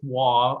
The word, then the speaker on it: Waugh: And it is pronounced Waugh. I get that a lot. It's an old Thank you. Scottish. Yeah, it's an old Scottish name.